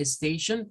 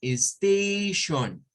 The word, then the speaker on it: station: luego me dijeron Station que correctamente Station Pues es de dos sílabas la primera es este y la segunda es esta Verdad que es donde está el Swap propiamente o sea en la segunda sílaba hay un Swat la primera de hecho es la sílaba estrés verdad si pueden ver ahí la comilla verdad esta comida de acá nos está indicando que esta es la que sube el volumen Station Station Ok entonces ahí tendríamos